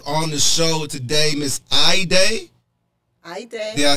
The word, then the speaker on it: Hayde: with you okay now you spell your name h a yde x mark on the E and it's pronounced I day I day I day